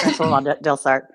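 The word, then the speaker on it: François Delsarte: Quebecois will be rolling over in their grave at my pronunciation, no doubt. No, that's right. Yeah, Francois Delsarte.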